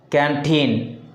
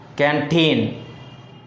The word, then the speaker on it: canteen: Canteen. The second syllable in these words sound loud. Canteen.